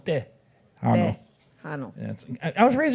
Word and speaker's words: Tejano: And I realized they're not saying Tejano, they're saying Tejano. Tejano. Tejano.